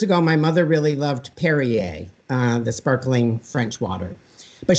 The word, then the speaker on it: Perrier: So years ago, my mother really loved Perrier, the sparkling French water, but she couldn't say it. She would say Perrier, prairie, par. And it's like, Mom, like it's 2 syllables.